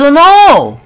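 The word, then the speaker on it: know: قال لها اي ام سوري اي دونت نو، اللي ما بنطقش فيها الكي، انا لا اعرف.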